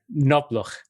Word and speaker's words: Knobloch: pronounce it in German, Knobloch. Almost there. Yeah, it's the pronounced K. It makes a difference. All right. Knobloch.